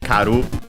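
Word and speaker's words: 刈る: There's another verb more common, which is karu. Unaccented, okay, so actually karu.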